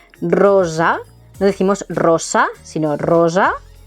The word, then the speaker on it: rosa: Rosa, cuidado con la pronunciación de la S sorda y sonora. Rosa, no decimos rosa, sino rosa.